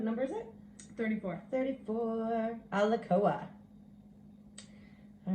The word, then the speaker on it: Alakoa: Alakoa. Alakoa. The spirit of the warrior. Oh wow, look, that's also the one on the back of the book. Yippee. Huh? Special, what number is it? 34. 34. Alakoa.